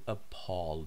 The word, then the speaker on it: appall: using her words you appall me pears you appall me in British English this word is pronounced Paul you disgust me you